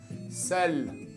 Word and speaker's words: seul: Aquí EU se pronuncia qué feo, pero como está con la L se pronuncia mejor. Seul.